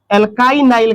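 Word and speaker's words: alkynyl: तो y एन यहां है एल के y एन व एल एल्काइनाइल क्या पढ़ेंगे एल काइ नाइल का निर्माण होता है।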